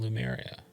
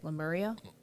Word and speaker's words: Lemuria: wondering about the advent of the civilization called Atlantis and Lemuria.